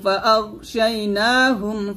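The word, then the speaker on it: فَأَغْشَيْنَاهُمْ: ওয়াজআলনা মিন বাইনি আইদিহিম, মিন বাইনি আইদিহিম সাদ্দাও ওয়া মিন খালফিহিম, ওয়া মিন খালফিহিম সাদ্দান ফাআগশাইনাহুম, ফাআগ, আগ বলবেন না, আগ এরকম মোটা করে, সাদ্দান ফাআগশাইনাহুম ফাহুম লা ইউবসিরুন।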